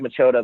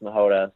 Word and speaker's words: Machota: So my name is spelled, my last name is spelled Machota. So it looks like Machota, but it's pronounced Machota.